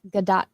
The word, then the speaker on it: Gadot: And she says it's Gadot. Well, I say it wrong then.